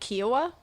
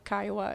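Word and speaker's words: Kiowa: Uh, and also I just wanted to quickly say I pronounced uh the Kaioa tribe wrong. I said Kioa. So somebody very nicely was like, "Oh, hey, it's the Kaioa."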